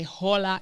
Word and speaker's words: hola: that and also that you don't pronounce the h you don't say hola you say hola even though you have to write it this is what they